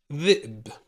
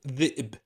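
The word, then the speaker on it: ذئب: Now, on a chair, dhi'b, which means a wolf. Dhi'b. See? Dhi'b. And Hamza on a chair here. Notice the pronunciation. Short voice, short sound coming from the throat.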